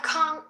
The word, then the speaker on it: can't: I can't go. I can't go. I can't go. I can't go. I usually do this. I usually I just don't pronounce the T.